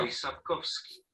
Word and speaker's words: Andrzej Sapkowski: eso tiene este nombrecillo que es difícil de pronunciar para todos. De Y hecho, justamente, Vamos a oírlo. Andrzej Sapkowski.